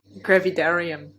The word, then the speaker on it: hyperemesis gravidarum: So I went there and I was diagnosed with, I can never pronounce it, hyperemesis gravidarum, if that's how you say it? Gravidarum.